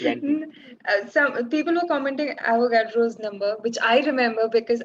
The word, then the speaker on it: Avogadro: I almost read it as what's the I almost read it as avocado. How do you pronounce it? I just forgot the pronunciation. Avogadro. But I read it as the fruit, which is like Avocado.